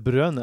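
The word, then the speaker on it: Bruyne: Kevin De bry uansett Kevin De brø som han sa selv at han uttalte navnet sitt det brøn Å ja det er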